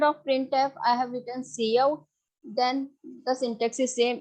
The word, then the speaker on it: cout: Cout, I have told you that cout stands for character output. You can't pronounce it as scout. You have to pronounce it as cin or cout.